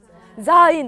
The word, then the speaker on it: sein: sein 너무 잘 읽으셨어요. z 발음 들어가야 되고요. I 발음 들어가 있고요. 그래서 sein이라고 읽어요.